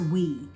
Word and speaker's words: Oui: you guys right here this is pronounced we it's o-u-i and it's by Yo